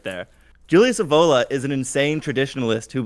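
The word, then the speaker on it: Evola: He just quoted Julius Avola. First of all, he said his name wrong. He said Julius Eva.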